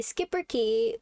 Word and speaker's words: Schipperke: uh art is sharks you say skipper key like in German it's skip you know skip it's got that shirt hashtag chart uh